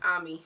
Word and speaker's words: Amy: case they um she amy which they pronounce ami is so cute i